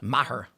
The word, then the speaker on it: Maher: How do you pronounce his last name? Maher, I guess. Maher.